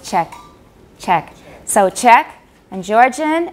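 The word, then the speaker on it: Czech: pronunciation wouldn't understand it otherwise the word is pronounced check check so check and georgian and scottish gaelic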